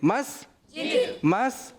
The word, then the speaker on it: मस्जिद: मैं कहूँगा मस्त, आप कहेंगे जिद। मस्जिद।